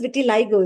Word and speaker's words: vitiligo: Because I think most And people suffering from vitiligo, it's pronounced as vitiligo, is it? yeah, All right.